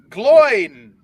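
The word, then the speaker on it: Glóin: to you number one it's gloin glowing sounds better than gloin it sounds like groin well that's how elrond pronounces it in the movie it's glowing of course he does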